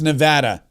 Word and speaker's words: Nevada: Happy Thanksgiving from Nevada. Tired of this stuff." And yes, it's Nevada.